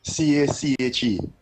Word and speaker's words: cache: pronunciation of the word cache. C-A-C-H-E. Right? Which means a hiding place. Well, no, Lennox Smith pronounced it correctly. C-A-C-H-E is pronounced cache. Because it's a French word.